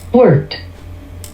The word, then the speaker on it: wort: It should now be plain to everyone that there are two acceptable ways to say war or were as an English speaker. Personally, it feels more natural to me to say war, as this is mostly how I've heard it said by those around me for most of my life. But I've become used to hearing people use both pronunciations in the same way